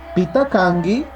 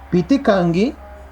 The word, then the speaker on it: pitakangi: Ya, ahí esa acá es muda, ¿ya? Pitakangi, ¿quién eres? ¿Ya? No se olviden eso. Pitakangi, ¿Ya? ¿Quién eres? También se puede escribir, también se escribe de esta manera y es válido, ¿ya? Pitikangi, ¿ya? Pitikangi, puede decir Pitakangi, Pitikangi, ¿quién eres? ¿Ya? Cualquiera de los dos.